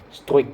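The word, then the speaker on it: Struick: Jadi dari Rapal Strujic, susah namanya, Struik ya bacanya gitu ya.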